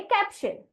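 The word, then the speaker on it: caption: होता है शल और सी की आवाज क ए की आवाज ए पी की आवाज प तो सीए पी को हम पढ़ेंगे कैप और उसे अगर मैं टी आई ओ एन जोड़ देती हूं तो उसका उच्चारण हो जाता है शन इसलिए इस शब्द को हमारे बच्चे पढ़ेंगे कैप्शन और यहां पर हमने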